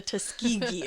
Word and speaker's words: Tuskegee: is the I need to look up this pronunciation actually. I looked it up. It's the Tuskegee experiment.